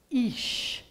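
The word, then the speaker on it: אִישׁ: So this word, which is an aleph with an e vowel here and a sh, that word is ish.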